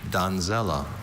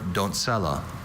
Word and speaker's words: doncella: Donzella or don'tsella. Doncella. D-O-N-C-E-L-L-A. Doncella? That is correct. Thank you. I think having both pronunciations helped him clear up the Z versus a C.